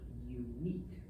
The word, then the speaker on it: unique: Here's where English gets fun, because even though that looks like un, it's not pronounced on. It's pronounced yun.